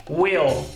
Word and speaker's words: will: Will repare na pronúncia a gente não diz Will ou Will o l ele é prolongado na pronúncia Ou seja você pronuncia Will uma característica muito interessante